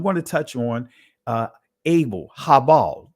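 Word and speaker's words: הבל: I'm going to touch on Abel, Habal. Those are the ancient Hebraic pronunciations of their names, to show you and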